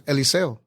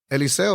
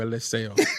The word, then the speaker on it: Eliseo: you but my but the correct way to say my name is Eliseo Eliseo is the right way to say my name I would never call you a list sale at least sales the